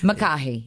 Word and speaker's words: McCahey: McCahey, exactly.